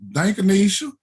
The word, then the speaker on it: Dankanisha: And I asked her how did she pronounce it because I was looking at her ID. And she said, Dankanisha.